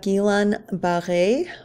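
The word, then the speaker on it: Guillain-Barré: next up we have gilan b or B I think is how most of us pronounce it syndrome this is a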